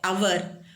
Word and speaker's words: hour: Vowel letters, and sometimes if it is first letter is silent, for example H is silent in this word, and then what?